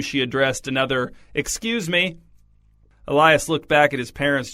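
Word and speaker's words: Elys: His name is Elias. E L Y S, but pronounced like Elias.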